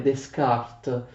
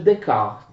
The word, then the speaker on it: Descartes: Si scrive così, si scrive Descartes, però non fate l'errore abbastanza comune di pronunciare Descartes, si legge Descartes.